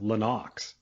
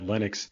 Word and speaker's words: Lennox: about lennox lewis yeah his name is actually pronounced lenox he just says that he doesn't correct anyone because he realizes that linux is the uh regular pronunciation of it oh